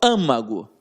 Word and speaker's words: âmago: L leva acento âmago como é que eu falo âmago eu falo âmago onde é que tá o som mais forte na anti penúltima sílaba Ou seja eu tenho